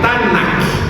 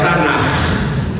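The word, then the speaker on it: Tanakh: Então aí eles colocam azinha embaixo, seria a Tanac ou pronunciando como ex, né? É a Tanar, porque esse ketuvim ketvir ele é cultural, tá bom? Então na realidade tanar, esse final é cultural.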